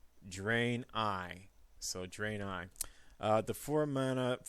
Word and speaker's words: Draenei: shaman deck up next dren I totem carver I've been told that the way to pronounce that is drain I so draenei the four